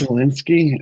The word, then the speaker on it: Zelensky: I don't think that's how you pronounce it. Zelensky. Um, yes, it's Zelensky.